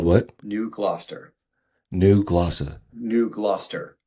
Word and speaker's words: New Gloucester: New Gloucester. New Gloucester. New Gloucester. Gloucester is how it's spelled, but it's like there's Gloucester, Mass.